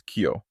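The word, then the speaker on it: 今日: a few example words when you combine IMA and Nietzsche it becomes Kyo which means today so this is the exceptional pronunciation for EMA I was talking about and when you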